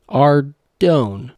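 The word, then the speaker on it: Ardougne: Pronouncing Ardone without the H is like pronouncing both without the L or pronouncing espresso without the X. Any other pronunciation should just be criminal, really.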